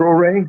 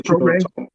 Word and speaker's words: Traoré: Traoré? I want to say it's Traoré. Yeah, we know exactly what Traoré, Ibrahim Traoré.